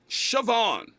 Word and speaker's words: Siobhan: For those unaware, Dwayne Wade and his ex-wife, Siobhan, how do you pronounce that? I don't know. Is it Siobhan or Siobhan? Siobhan.